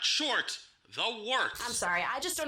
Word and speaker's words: Wort: Hey, moron, it's pronounced the Wort.